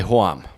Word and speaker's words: Hoam: So, for example, in Bavarian German, standard German, the word for home is Heim, right? Uh-huh. And then Bavarians will say Hoam.